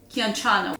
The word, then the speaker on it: Chianciano: to the town of Chianciano, which is how I think you pronounce it. I know it's a K in the beginning.